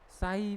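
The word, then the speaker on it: psi: Notation बहुत साई बोला जाता है। क्या बोलेंगे? पी, ठीक है, पी साइलेंट होता है।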